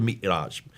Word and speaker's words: Mi'raj: But that's where called the Miraj. How do you pronounce it? Yes, Mi'raj.